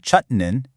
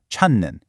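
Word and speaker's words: 찾는: When you add nun, that j sound at the end of chut actually softens and becomes an n sound. So instead of a hard chutn, it smoothly becomes chunen.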